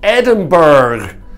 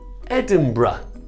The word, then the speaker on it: Edinburgh: Canadians get this wrong they often call it Edinburgh we're going to Edinburgh if you look at the phonetics you will see the pronunciation is Edinburgh Edinburgh Edinburgh a stress Edinburgh I do hope that